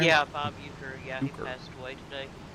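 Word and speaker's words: Uecker: that how you say his name yeah Bob uker yeah he passed away today the famous uh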